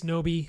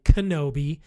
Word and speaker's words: Knobbe: Knobbe, actually, I'm saying it wrong already, Kenobi, as I say in the beginning. This is Obi-Wan Kenobi, naming.